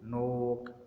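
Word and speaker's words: knock: अगर शुरू में जो के है वो प्रोनाउंस नहीं होगा अगर उसमें जो है वो उसके बाद एन आ रहा है। मसलन उसने बोला नाइफ, नी, नो, नोक, नॉलेज। अब हमने देखा कहीं पर भी हमने की को प्रोनाउंस नहीं किया क्योंकि के बाद एन आ रहा है।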